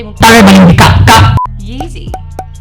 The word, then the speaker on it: Yeezy: Yeezy. It rhymes with easy, like you.